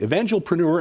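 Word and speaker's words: evangelpreneur: thank you so much it's evangel preneur evangel preneur event preneur evangelism and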